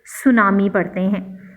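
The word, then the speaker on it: tsunami: during the 2004 सुनामी यहां पर गौर करें सुनामी 30 से स्टार्ट होता है लेकिन TCS यह जब शुरू में आया होगा सुनामी में तो टीम साइलेंट है इसको हम तब सूनामी नहीं पड़ते सुनामी पड़ते हैं फैमिली ई वास सपोर्टेड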